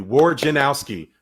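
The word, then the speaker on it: Wojnarowski: to teach you all how to say his name war gin like the drink owski say it with me war say his name correctly war janowski woes the woj bomb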